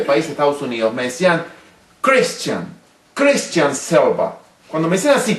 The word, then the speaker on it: Christian: No sabía ni a quién, si me refería a mí, hasta que aprendí que en el idioma americano, Christian, no se dice Christian, como pronunciamos nosotros, sino dicen Christian.